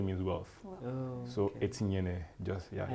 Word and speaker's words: Inyene: The full pronunciation is Inyene. Inyene. Inyene.